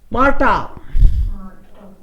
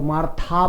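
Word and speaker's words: Martha: मार्टा, एच बीच में आए तो साइलेंट, सो मार्था बोलने की बजाय मार्टा, मार्टा।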